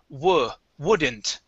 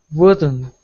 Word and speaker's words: wouldn't: this one up here we're going to say wouldn't wouldn't okay give me a t at the end wouldn't wouldn't good nice